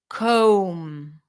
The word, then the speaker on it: comb: in the following words the B is not pronounced bomb not bomb so when you have the MB spelling at the end you do not pronounce the b bum com lamb okay okay let's